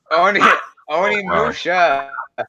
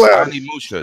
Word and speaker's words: Onimusha: He says, "I don't miss you" is not pronounced. I'm on miss you. Onimusha. It's Onimusha.